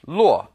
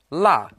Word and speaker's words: 落: Now this character can also be pronounced luo, but here it's pronounced la, to lose or misplace something.